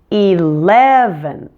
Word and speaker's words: eleven: vPro enunciation video now eleven is quite similar to seven but in this case we have three syllables and we're going to stress the middle one on this one eleven and don't forget to move your tongue forward and stick it out when you say the N at the end eleventh eleventh now finally